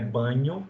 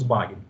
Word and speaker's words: Bagno: A pronúncia original do nome dele é Bagno, né? Porque esse Bagno é do italiano, mas a gente vai chamar aqui de Marcus Bagno, tá bom?